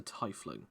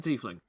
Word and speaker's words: tiefling: tone he is a tie fling or a tiefling however you want to pronounce it he's a t-fling uh as you see